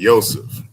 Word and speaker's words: Yosef: Because I was saying Yosef, so yeah, I'm using the actual Hebrew pronunciation.